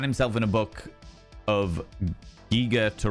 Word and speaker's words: Giger: Mystery unsolved. Yeah, giger. Okay, cool, cool, cool. I will do my best to remember that as I have always pronounced it geer, but I definitely have